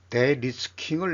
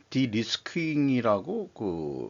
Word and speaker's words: de-risking: 대중관계에서 대리스킹을 내놓은 G7의 의도는 무엇인가? 코리어 재팬의 보도 내용인데요. 일본식 발음을 그냥 이 AI가 번역한 대로 그냥 가져온 것입니다만은 우리로서는 디리스킹이라고 읽어야 되겠죠.